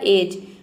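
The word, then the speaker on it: edge: pronounce नहीं करते हैं तो आप देख सकते हैं कि डी के बाद यहां पे जी ई आ रहा है तो यहां पर देखिए डी साइलेंट हो गया एक ई का हो जाएगा ए और जी ई का हो जाएगा ज यहां पे जी को ज प्रोनाउंस कर रहे हैं ई लेटर साइलेंट है क्योंकि वर्ड के अंत में आ रहा है पूरा हो जाएगा आपका एज एज मतलब होता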